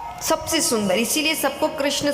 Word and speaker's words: कृष्ण: कृष्ण कहने में जीभ घूमती है। बोलो घूमी? जिसकी नहीं घूमी गलत बोल रहा है। हां सही उच्चारण करोगे तो घूमेगी।